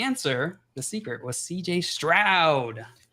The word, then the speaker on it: Stroud: The answer, the secret, was CJ Stroud. Cloud rhymes with Stroud. Cloud does rhyme with Stroud.